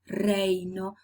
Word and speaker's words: reino: While in Spanish, you do say reino, Your tongue is touching actually the back part of the alveolar ridge.